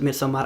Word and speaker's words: Midsommar: to lie to you and also why I pronounce it me so M again cuz I'm finish not cuz I'm pretentious